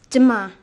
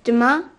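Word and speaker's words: demain: do you say tomorrow in french um it's dima sorry can you say that again please yes it's duma how do you spell that d e m a i n great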